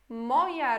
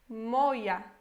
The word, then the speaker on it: moja: se pronuncia as coisas, para você não ler moja aqui, né? É moja em polonês.